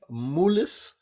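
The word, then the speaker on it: Moelis: Banking firm and I don't know whether I'm pronouncing this properly moolis m-o-e-l-i-s um they've just hired 11 at Silicon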